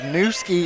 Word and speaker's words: Nkusi: Well, Newski is spelled Nkusi. Yes. So, but I did get from their head coach the pronunciation. So if that's how the coach says it, then Mom can't be mad at me if I mispronounce it.